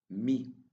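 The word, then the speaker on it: μι: Me. Me. The sound of me is the same as the M sound in music.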